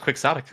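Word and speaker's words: quixotic: Almost all of my conversations with Google saying that it's it's pronounced quicksotic.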